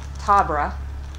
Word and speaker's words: Tabra: But it's by Tabra. I think that's how you say her name, T-A-B-R-A.